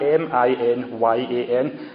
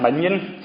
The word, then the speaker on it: minyan: He calls for I don't know how to pronounce it, a minyan, M-I-N-Y-A-N. I keep on wanting to say a minion, but it's not Despicable Me, the wee yellow minions, a minyan.